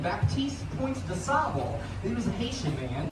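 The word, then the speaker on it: Baptiste Point du Sable: A black Haitian fur trader considered the father of Chicago, and I just said his name wrong. I said most Chicagoans say his name, Baptiste Point de Sable.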